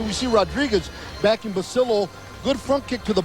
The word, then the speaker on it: Basillo: silho right hand attempted Rene basil--oh of 27 pronounces it basil--oh and not Basilio and his greatest wind